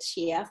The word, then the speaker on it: Ciyaal: So my current project title or the working title is Ciyaal Baraf. So the C is silent, typically for most Somali words.